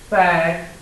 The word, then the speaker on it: Pythagorean: Pythag. That sounds like a couple of words. O, like jack-o'-lantern, jack-o'-rean, and rean, like the second two syllables of Korean. Okay? Korean, rean. So, Pythagorean.